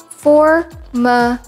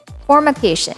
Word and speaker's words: formication: Simply pronounce the word as formication. Formication.